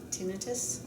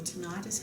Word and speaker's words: tinnitus: you're saying that there's tinnitus or tinnitus. How do you say it? I don't know. Either one is fine with me. I say tinnitus, but others say tinnitus.